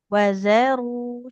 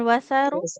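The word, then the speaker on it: وَذَرُوا: Oke, huruf zalnya hati-hati jangan jadi sa ya. Secara makro dia sudah tepat, tapi di sifatnya jangan mengalirkan nafas ya. Kalau mengalirkan nafas, nah jadi hurufnya jadi huruf sa dia nanti.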